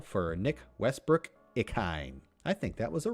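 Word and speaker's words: Westbrook-Ikhine: Nick Westbrook Ikhine. Yep, I pronounced that right.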